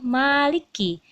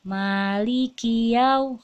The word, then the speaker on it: Maliki: kemudian di sini ada Maliki Maliki ini ada beberapa yang Umi Aisyah temui eh membacanya itu Maliki nah Maliki jadi dia lengket likenya Ini hati-hati ya malikia wracky Bukan like Iya Malikiyaumiddin kemudian disini nah